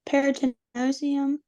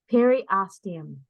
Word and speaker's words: periosteum: Peritinosium? Periosteum.